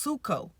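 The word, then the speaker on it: ψύχω: it is spelled psycho the Greek word is spelled psycho but it's actually pronounced suko but I thought it's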